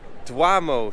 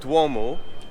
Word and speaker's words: Duomo: apologize from the Star because I do like to say duamo sometimes for some weird reason but Duomo so this is obviously the